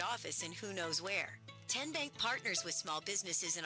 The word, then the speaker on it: TN Bank: TN Bank? Nope. Tin Bank? So what is it? 10 Bank. 10, as in Tennessee.